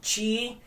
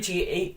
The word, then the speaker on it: Kyi: Chi. I know it's spelled awkward. I know it's KYI, but it's pronounced Chi.